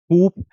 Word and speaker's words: coup: K it is so coup again it is not this coup p is silent so it is pronounced